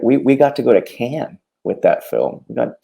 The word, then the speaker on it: Cannes: If you want to be posh about it, I guess it's Cannes. But for me, it's Cannes. It's Cannes.